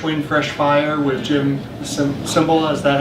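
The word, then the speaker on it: Cymbala: reading uh fresh wind fresh fire with jim symbol is that how you pronounce it yeah he says god is attracted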